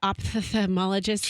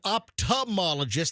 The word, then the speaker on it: ophthalmologist: And do you pronounce the TH, the ophthalmologist? Like, that's what MJ does. He really overpronounces that TH. No, I don't. Yes, you do. You and Fester said ophthalmologist, and I'm like, no, ophthalmologist.